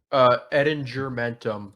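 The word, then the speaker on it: Ettingermentum: Edingermentum. It's a hard G. Okay. Edingermentum.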